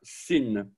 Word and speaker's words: sin: Un point à gauche et l'on prononcera sin.